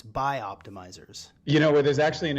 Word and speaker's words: BiOptimizers: is the co-founder of bio-optimizers i didn't say it right that time it's by optimizers you know there's actually